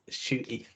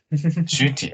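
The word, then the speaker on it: Ncuti: you say his name NTI or something shooty shooty oh okay yeah the end is kind of silent and then there's also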